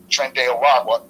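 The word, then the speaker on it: Tren de Aragua: glad you getting your doors kicked in by Tren araga that's how you pronounce it Professor Tren de araga no I'm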